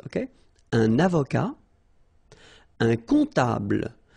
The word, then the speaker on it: comptable: Un comptable, so OM, remember it goes like on, all right? And then, strangely, this P is not pronounced.